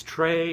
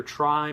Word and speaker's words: Tri: try now I know a lot of people pronounce it differently it's Trey or try but for the purposes